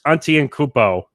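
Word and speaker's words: Antetokounmpo: to say his last name right yeah giannis auntie and cupo they they really they really you really saw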